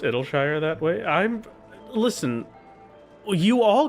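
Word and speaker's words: Idyllshire: Idle as in idyllic? Oh, so like no. That can't possibly be correct. Id like the software. Yeah, Idleshire.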